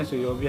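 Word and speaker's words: 水曜日: Ini bacanya suyobi, hari Rabu.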